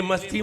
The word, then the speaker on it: मस्ती: और आपने 'i' को लंबा कर दिया, इसलिए यह 'masti' बन गया। इसलिए, इसे 'मस्ती' न समझें, इसे सही ढंग से पढ़ें। 'मस्ती' में लघु 'इ' स्वर है; इसे लंबे 'i' में बदलने से उच्चारण बदल जाता है। इसे यहाँ और वहाँ 'मस्ती' के रूप में कहना पड़ता है , इन दोनों में बहुत बड़ा अंतर है।